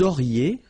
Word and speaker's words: auriez: Vous auriez, liaison here, and then EZ will go like E.